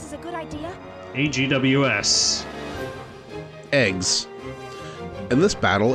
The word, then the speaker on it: AGWS: agws in the submenu yeah they they pronounce it eggs unit kind of like if you're saying eggs but it's like egg eggs yeah I I know